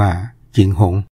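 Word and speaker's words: 景洪: 1 เมื เ เมือง เชียง หุง นี่ ก็ คือ เมือง เชียงรุ่ง ที่ เรา ออก เสียง ว่า เชียงรุ้ง คำ นี้ ใน ภาษา จีน ก็ ออก เสียง ว่า จิงหง เมือง เจียง ตุง ใน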